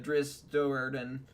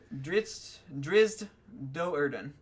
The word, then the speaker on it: Drizzt Do'Urden: So if you are a fan of the Drizzt Do'Urden series of books, you can... Did I pronounce that? I never knew. Yeah. Okay. Drizzt Do'Urden.